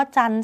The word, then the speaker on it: จันทร์: เสียง แค่ นี้ เนอะ คำ ว่า จันทร์ ใช่ ไหม คะ ตัว อื่น